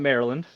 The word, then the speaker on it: Maryland: So I am from Maryland, and yes, it's pronounced Maryland.